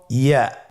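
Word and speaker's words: ياء: পরবর্তী হরফটির নাম হল ইয়া পরবর্তী হরফটির নাম ইয়া পরবর্তী হরফটির নাম কি ইয়া ইয়া হরফটি উচ্চারণের ক্ষেত্রে বারিক হবে এবং এক আলিফ টেনে পড়তে হবেইয়া আবার বলুন ইয়া ইয়ার মাখরাজ কোন জায়গা থেকে উচ্চারিত হয়?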